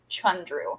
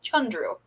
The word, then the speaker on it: Chandru: It is Chandru. So if we can put that out there, it is Chandru.